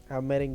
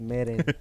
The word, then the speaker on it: Meren: Meren. You can see the light bulb turn on. Spell it, please. MEREN. Okay, like merengue.